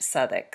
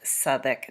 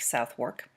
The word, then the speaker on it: Southwark: is an area in london and it is pronounced southik so um since this was an english family it is quite likely that they would have pronounced it southik not southwark uh and then also the john street theater